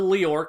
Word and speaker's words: Lior: And this movie then hard cuts us right into the end of the Lior conflict, where they're chasing after Father Cornello, and there's no real emotional impact.